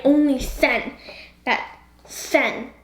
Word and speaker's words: Sen: into sent right only sen that sen that's only one syllable Chihiro descent that's terrible it sounds like sin which you know sin